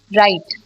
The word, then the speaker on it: write: Write, when you say write, तो W is silent.